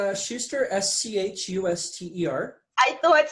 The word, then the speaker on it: Schuster: is your last name for me ow it's Schuster SCH UST er I thought so I wanted